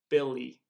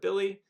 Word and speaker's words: Billy: word, like my name, Billy. And so my name ends with a Y, but it's pronounced E at the end.